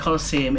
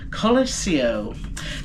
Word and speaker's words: Colosio: Not I keep calling it the Colosseum, it's the Colosio.